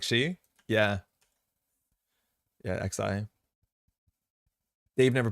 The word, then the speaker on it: Xi: correct on stream because I pronounced the she pronunciation the Chinese way and it sounded like she yeah yeah XI Dave